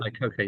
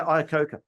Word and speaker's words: Iacocca: I don't know if I'm pronouncing his surname right. Lee Iacocca, is it? Iacocca, yeah. Yeah, Iacocca.